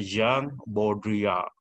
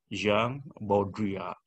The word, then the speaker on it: Jean Baudrillard: Yang kedua juga orang Prancis, dibacanya Jean Baudrillard ya. Jean Baudrillard.